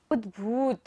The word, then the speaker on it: उद्भूत: उद्भूत, भा पर बड़े ऊ की मात्रा है तो हम भा को लंबा लेंगे।